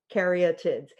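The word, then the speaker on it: caryatids: But those six dancing women that hold up the the temple, they're called karaotids. Okay, that's how you'd pronounce it in in the, you know, standard American karaotids.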